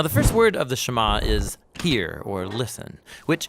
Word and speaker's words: Shema: Now, the first word of the Shama is hear or listen, which in Hebrew is pronounced shama.